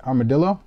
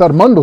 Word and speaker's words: Armando: Armadillo? Armando. It's Armando, stupid.